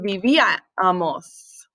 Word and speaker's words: vivíamos: Comíamos and vivíamos. Accent on the I.